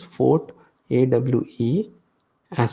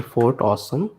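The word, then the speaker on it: Fortawesome: as save at for actually it is not font it is but it is spelled like that it is Fort a we e s so Fort awesome react react uh font awesome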